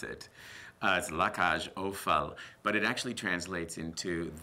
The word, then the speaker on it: La Cage aux Folles: definition of la casual fault and how to pronounce it as la cash Oh FAL but it actually translates into the cage of